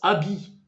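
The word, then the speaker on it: abbey: Eux, ils le prononcent abi.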